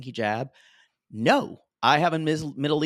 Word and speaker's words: hijab: And I kept saying, what is when they hijab? He's like, no, actually the in Egyptian Arabic, there is no j.